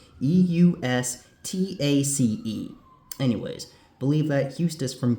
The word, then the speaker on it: Eustace: Okay, that's not how you pronounce Eustace. It's pronounced Eustace.